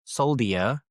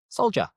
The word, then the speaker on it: soldier: But the pronunciation isn't soldier. It's soldier.